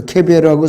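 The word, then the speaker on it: קֶבֶר: 그래서 욥이 말한 무덤 그레이브는 히브리어로 케벨이라는 발음으로 하고 이 수올이라는 것은 지하세계인데 영어 킹제임스 성경은 지옥으로 표현하고 있어요. 헬로. 그런데 히브리어로는 지하세계를 말해요. 수올. 근데 이 무덤하고 저 그레이브하고 저 케벨하고 수올이라는 말은 전혀 다르죠.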